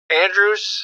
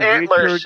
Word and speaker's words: Andrews: It's not antlers. Richard Andrews. No, sorry. It's not antlers. It's Richard Andrews. Andrew, like the name.